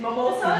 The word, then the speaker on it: mimosas: Mimosas?